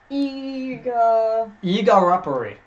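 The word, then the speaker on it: Igarappoi: And the mayor of Whiskey Peak, Igarapari Igarapari is the correct way to pronounce it.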